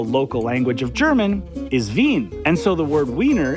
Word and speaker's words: Wien: Vienna in German is pronounced Wien and spelled Wien.